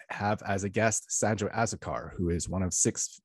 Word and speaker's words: Azocar: am grateful to have as a guest sanjo asakar who is one of six vice presidents with